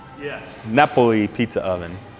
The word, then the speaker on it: Napoli: Napoli? Yes. Napoli pizza oven.